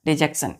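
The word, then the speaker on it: dejection: एन डिजेक्शन डी जक्शन डिजेक्शन इसको डी नहीं पढ़ते हैं डिजेक्शन पढ़ते हैं ठीक है फिर हम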